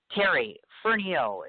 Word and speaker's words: Terry Fernihough: Terry Fernihough is how it's pronounced.